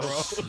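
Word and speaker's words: Boras: I call him boros boros yeah he is a boros to me I call him boros cuz it rhymes with moros um good yeah but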